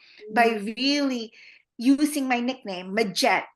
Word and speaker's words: Majet: here in America in the Philippines call me maette and now you know I use that more